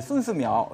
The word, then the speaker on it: 孙思邈: 그 중국어로 하면 이제 순스미ao 이렇게 읽는데.